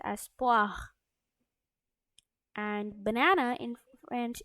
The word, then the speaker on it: poire: So apple in French it's pronounced as pomme, and pear in French is pronounced as poire, and banana is in French it's pronounced as banane, and a strawberry in French it's pronounced as fraise.